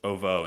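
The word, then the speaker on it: Ovoo: the mongols the ovo i just recently learned it's like pronounced ovo not ooh the other way i thought it was oo i don't i don't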